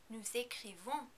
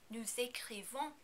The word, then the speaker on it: nous écrivons: Although usually we do not pronounce the final S in nous, with the verb écrire we need to pronounce this S because écrivons begins with a vowel. Also, be careful as always not to overpronounce the last N.